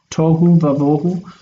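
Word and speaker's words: תֹהוּ וָבֹהוּ: This is chaos and void, tohu vavohu, where the vav takes an ah sound. This is not the normal pointing of vav. It's kamat because if it's right in front of an accented syllable, so it likes to become long itself. But tohu vavohu is a fixed expression.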